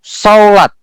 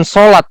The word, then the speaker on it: saulat: Kata kuasa di sini Bapak Ibu itu di dalam bahasa Ibraninya itu saulat. Bukan solat ya. Dalam bahasa Arab beda, ini jangan disamakan. Ini saulat. Jadi bacanya itu ada W-nya. Saulat.